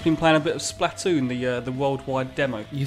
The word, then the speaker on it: Splatoon: Liam, we've just been playing a bit of Splatoon, the worldwide demo. You say it different to me. I say Splatoon. I say it like Splatoon because it's like Platoon.